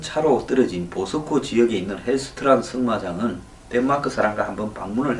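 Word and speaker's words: Helgstrand: 이 헬거스트란 그 G자 발음을 보통 안 하니까 헬스트란이 맞겠죠.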